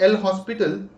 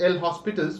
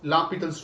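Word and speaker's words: L'Hôpital: also apply la petel's rule it is not l hospital right la peter's rule but we write it as l hospitals but it's it's up to you guys if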